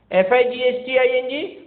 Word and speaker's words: fighting: FIGHTING, fighting, because we don't pronounce GH.